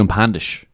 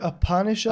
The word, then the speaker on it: Upanishads: The Upandish is a book you've dabbled in before. Is that correct? The Upanishads.